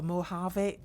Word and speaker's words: Mojave: going to be in the style of a Mojave Desert and I've looked that up so I know I've pronounced it correctly I do like that desert